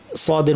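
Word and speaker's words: ص: যেমন সদকে উচ্চারণ করা খুব সোজা, যদি আমরা সিন উচ্চারণ করতে পারি, আস আস, একটা চিকন শার্প আওয়াজ, আসা, এটা হচ্ছে সিন, তাই না? এই আওয়াজটাকেই জিব্বা যেখানে লাগাচ্ছেন সেখানেই লাগাবেন, কিন্তু আওয়াজটাকে উপর ঠেলে দিলে সদ হয়ে যাবে।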